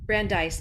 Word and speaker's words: Brandeis: Did I pronounce that correctly? Brandeis, I guess. Brandeis, thank you.